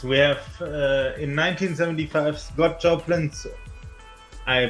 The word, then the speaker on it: Joplin: Yes, we have in 1975 Scott Joplin's. I butchered that already. Oh my god. How do you pronounce that name? Joplin. Joplin. Like Janis Joplin.